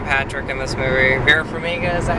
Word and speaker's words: Farmiga: Vera Farmiga, is that how you pronounce her name?